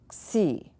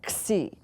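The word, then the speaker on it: ξῖ: which looks like that this letter is si si si right si so why am i doing that because that's a very foreign sound for us and they'll people that would say gee and they might be of Asian or something wanted to would they want to go with this it's not it's like our word taxi or except that's the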